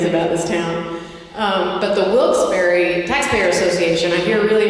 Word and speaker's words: Wilkes-Barre: And I heard that let me say this right, Wilkes-Barre, is that right?